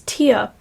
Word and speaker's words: tear: one by saying that the person is his tear. Next, Suga sings that the person is his tear with the same pronunciation as tearing {slash} ripping.